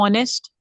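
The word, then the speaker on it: honest: बच्चे गलत होते हैं देखो बच्चों ऑनेस्ट ऑनेस्टी यर ये सब वर्ड्स वो है जो कि जब प्रोनाउंस होते हैं तो वो बोला जाता है हर नहीं बोला जाता ऑनेस्ट बोला जाता है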